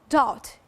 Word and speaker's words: doubt: Dear followers, there is no doubt. In fact, it's written like this, but it must be like this. There is a B between the U and the T. That's right, it is a silent letter, but silent, it's written.